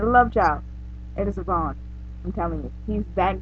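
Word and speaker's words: Avan: I always pronounce his name wrong because I'm trying to say Evan, but I have to say Avon.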